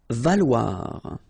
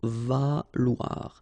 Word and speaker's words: valoir: Valoir. So remember, when you combine this O and E together, you get the sound wa. Okay, so valoir, valoir.